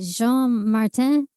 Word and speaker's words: Jean-Martin: Is it Jean-Martin?